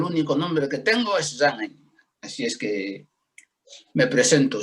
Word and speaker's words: Zanghändji: ¿Cómo se pronuncia? Zhang Ai. Zhang Ai, Z-A-Z-A-N-G-H-A-N-D-J-I.